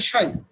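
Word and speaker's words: psi: হচ্ছে ফাই, এটা হচ্ছে সাই, পিএসআই, এটা হচ্ছে সাই, উচ্চারণটা হচ্ছে সাই।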